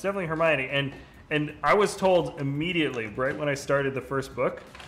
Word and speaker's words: Hermione: Yeah, no, it's funny though, because I had a family friend who's British and was like, no, it's definitely Hermione, and I was told immediately right when I